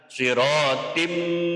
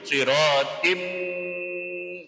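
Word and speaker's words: صراطٍ: Cara bacanya sirotim sampai ke hidung, sirotim. Nah, namanya idgham bihunna.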